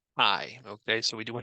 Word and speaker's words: chi: of fit so yes it's not pronounced ke it's pronounced Kai okay so we do